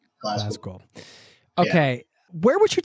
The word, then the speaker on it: Glasgow: Imagine there's like a Z in it. Glasgow.